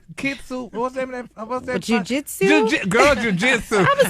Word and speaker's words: jiu-jitsu: Jinsu, how you pronounce that word? Jinsu? What's that fighting? Kitsu? What's that? Jiu-jitsu? Girl, jiu-jitsu.